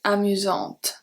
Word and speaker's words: amusante: Amusant, S has no power, we don't pronounce the T. Then amusante, because we have the E, we are pronouncing the T.